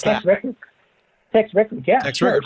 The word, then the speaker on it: Tex Rickard: How do you pronounce that? Tex Rickard, yeah.